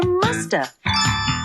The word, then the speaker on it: must have: We can say must have in conversation. And sometimes we don't pronounce the V. And so you hear musta.